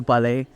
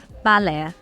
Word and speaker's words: Ba Le: Anytime I mention like buni to my friends are like, "Oh, did you go to bal?" How do you pronounce it actually? Uh it's actually bala.